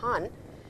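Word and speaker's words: 半: Now, as you can see on your screens, this is written han. It is pronounced as han and han means half actually, half.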